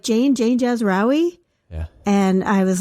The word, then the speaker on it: Jazrawy: I heard my name, and it was perfectly pronounced. It was by voice you didn't recognize. Yeah, it was like Jane Jazraoui.